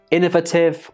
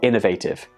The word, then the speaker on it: innovative: use the word privacy this word can be pronounced innovative or innovative in the UK both are acceptable in America again I think it's the latter innovative which is much more common and of course we